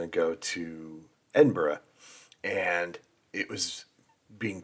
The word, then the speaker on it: Edinburgh: you cannot call it Edinburg no matter what you need to call it Edinburgh it's not pronounced like Pittsburgh ber it's uh so